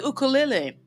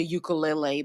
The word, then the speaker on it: ukulele: I know you guys say ukulele, but here we say ukulele, okay? Because that's really how it's pronounced.